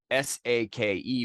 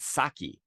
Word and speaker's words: sake: of people pronounce it saki but just given what I said about the pronunciation we already know that that's wrong right s-a-k-e pronounce it like Spanish right so I'm going